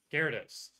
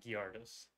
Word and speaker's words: Gyarados: the real question is how do you say the the Pokemon that Magikarp evolves into Gyarados it's not guillardus okay just checking yeah uh